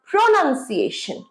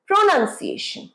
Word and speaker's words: pronunciation: এইখানে প্রোতে স্ট্রেসটা পড়ে, এই সিলেবলটাতে স্ট্রেস পড়বে। কিরকম হবে? প্রোনাউন্সিয়েশন, প্রোনাউন্সিয়েশন।